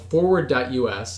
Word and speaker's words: FWD.us: and other Tech Giants it's called forward. us it's spelled fwd.us and their initial priority